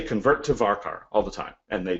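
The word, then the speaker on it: varchar: say very careful so everybody pronounces this differently and I mean it doesn't really matter I've always said varkar um anyway but I see people uh say convert to varkar all the time and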